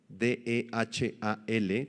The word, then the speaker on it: dehal: Esta palabra espantosa, dehal, del arameo, D-E-H-A-L, con acento en la A, dehal, apunta hacia un ser formidable que produce terror.